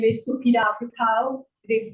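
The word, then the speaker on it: Supida Piwkhow: My name is Supida Pukau. It is spelled SUPIDA-PIWKHOW.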